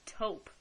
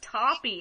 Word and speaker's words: taupe: women I work with didn't know how to pronounce taupe the color taupe they were like what's Toppy and I was like